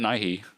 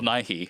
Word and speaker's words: Nighy: I think that's how you say it, Nighy, because it's Nigh.